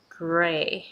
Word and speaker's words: Grey: pronounce G sound good sound you already have your tongue really tense up so it's great so when you pronounce G you promise or at the same time gray and then you release your tongue gray gray gray gray all